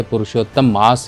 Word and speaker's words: पुरुषोत्तम मास: कई शब्दों में कई कई तरह से इनके नाम भी लिए जाते हैं, पर एक्चुअल में अगर हम सही प्रोनाउंसिएशन करें तो इसे पुरुषोत्तम मास ही कहना चाहिए।